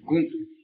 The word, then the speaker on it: kuntu: Por ejemplo, en la palabra kuntu, que es el cántaro, traducible así, kuntu, alargo la U final, y el kuntu, así, no necesariamente dos veces, sino un alargamiento, una prolongación de la pronunciación.